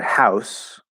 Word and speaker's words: house: special detail here um this word house is an s there is no z okay if you say